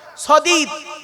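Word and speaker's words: صديد: সদীদ, শুনে নিন। সিন দিয়ে সাদিদ, শিন দিয়ে সাদিদ, সদ দিয়ে সদীদ।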